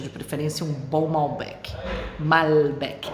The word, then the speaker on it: Malbec: preferência um bom Malbec Malbec é assim que a gente se preocupa gente pronuncio L aqui tá essa história de falar l com som de u é um vídeo de linguagem desse panela em português né uelen em português normalmente e o pronunciado com u com o Brasil por exemplo e aqui não welerson DL mesmo então Malbec aqui a gente vai falar mas Beck bom eu comecei dizendo